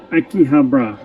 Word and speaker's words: Akihabara: I can never pronounce these things. Akihabara. Akihabara.